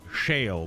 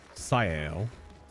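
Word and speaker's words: Sciel: Which I was pronouncing her name shale before, not knowing it was a it's a soft sea sle.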